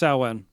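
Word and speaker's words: Samhain: it is yes and that would be pronounced saan oh yeah I guess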